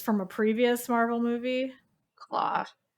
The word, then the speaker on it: Klaue: Claw. Claw, but it's spelled Yeah. like in a different way. Klaue, Yeah.